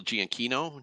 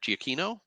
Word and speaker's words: Giacchino: And I think what's really interesting to me is that it's directed by, and I always say his name right, Michael Giacchino. Giacchino.